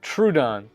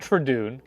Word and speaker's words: Trudon: so much more funny uh trudon yeah not trun TR trudon okay trudon